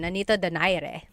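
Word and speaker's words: Nonito Donaire: So our first poll here is going to be Mani Pacquiao versus Nonito Daire or is in in the Tagalog uh pronunciation Nanito Dere.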